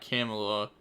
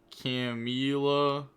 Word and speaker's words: Camula: bring out camula also everyone said I said it wrong it's not Camelot it's it's Camilla Camila something like that effect um sacred trees